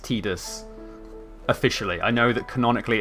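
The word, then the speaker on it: Tidus: in advance I know that his name is pronounced tetus officially I know that canonically it's pronounced tetus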